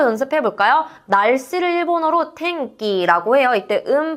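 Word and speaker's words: てんき: 날씨를 일본어로 탱끼라고 해요. 때음 발음 뒤에 카키크케코에 키가 왔기 때문에음 발음은 약간 이은과 이은이 합쳐진 탱 요렇게 발음이 돼서 탱기라고 해 주시면 되겠습니다.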